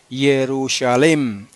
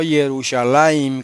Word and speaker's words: Jerusalem: de la gramática hebrea él dice que esa forma defectuosa se debe pronunciar jerusalem y no yerusalem como la ponen los los masoretas discúlpenme que había olvidado